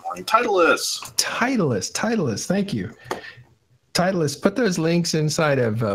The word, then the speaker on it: Titleist: say any man Titleist Titleist Titleist thank you Titleist put those links inside of public Channel it's